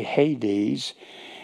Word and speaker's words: Hades: There's no H's in the Greek. There's the diacritical mark, but we pronounce it a Hades, and it's the construction of Edo and the alpha privative, which is the negative particle.